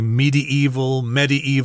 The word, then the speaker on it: medieval: That word medieval is kind of tricky because people pronounce that different ways. It just refers to 中古时代, the Middle Ages. Some people say medieval, some people say medieval. There are all sorts of different pronunciations, but hey, mine is correct, okay? Just take it from me. It's medieval. Medieval, dokei.